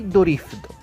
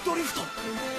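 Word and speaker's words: ドリフト: In Japanese they say "Kansei Dorifto" "Inertia Drift!? (Kansei Dorifto)" "Kansei" means "Inertia", and "Dorifto" is how "Drift" is pronounced in Japanese.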